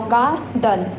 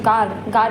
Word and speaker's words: garden: Now garden, and the syllable and the R word stress is garden. So gar is our word stress.